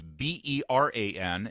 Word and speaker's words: Beran: I just don't want people to think that it's spelled, like an old medieval Baron. It's Beran, and you want to go right.